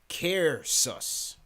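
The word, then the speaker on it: Caersws: He says his city is pronounced Cairsus.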